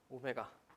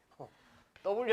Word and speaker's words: 오메가: 뭐라고 읽 읽니 메 오메가 오 읽을 줄 알고 있네 W 아니에요 오메가라고 읽으시면 되고 오메가의 대문자는 뭐니 저항